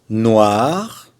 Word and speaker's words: noir: Noir, là on prononce le R.